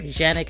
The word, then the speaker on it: Canik: Canik is how they pronounce it.